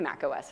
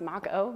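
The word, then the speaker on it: Mach-O: whatnot and then the Mac OS file and I've never said this out loud I think it's pronounced Mako Maco the form of the file format mac o um so that's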